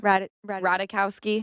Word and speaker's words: Ratajkowski: tell that her soul is good and Emily ratajikowski or is that you say her name Ratajkowski yes I don't know emirata was saying that